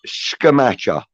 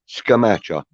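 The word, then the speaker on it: Scamacca: is telling us that it's scamacha okay that's how you pronounce scamacha like scaramanga i swear uh i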